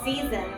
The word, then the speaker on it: SZNZ: As they listen to the Green Album and SZNZ Pronounced Seasons albums, all so childish in nature, in the